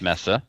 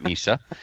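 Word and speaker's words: Mesa: Messa tactical stock off that's pronounced Messa not Misa and uh took the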